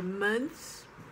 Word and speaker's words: month: the word month sometimes i hear month or months it's month nothing it's not nothing nothing or